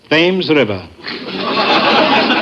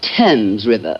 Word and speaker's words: Thames: I shall probably end it all by leaping into the Thames River. Oh, Mr. Marx, it's pronounced Thames River.